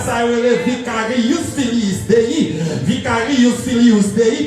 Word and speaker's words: vicarius filius Dei: Vicarius filius Dei, parce qu'en latin, toutes les lettres se prononcent.